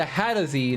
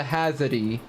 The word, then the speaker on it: Hadozee: It's the Hadozee, not the Hazardee.